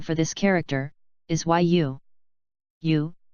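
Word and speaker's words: 유: this character is y-you you sounds like the word you next is ye the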